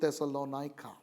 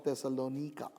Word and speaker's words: Thessalonica: two epistles and that's to thessalonica or thessalonika depending on how you would want to pronounce it another european city but